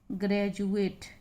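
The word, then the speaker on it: graduate: ई आया हुआ है, तो इसको पढ़ेंगे हम ग्रेजुएट। इसीलिए मैंने हिंदी उच्चारण लिख दिया, ग्रेजुएट यानी स्नातक।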